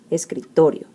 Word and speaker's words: escritorio: But because the word ends in a vowel, o, then the strong syllable is the second to last, to, escritorio.